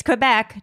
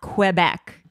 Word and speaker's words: Quebec: It's Quebec, not Quebec.